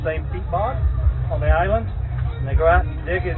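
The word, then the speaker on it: Islay: the northern part of Scotland this is Iowa is La why they call us they pronounce it Isla Island I love Hitler and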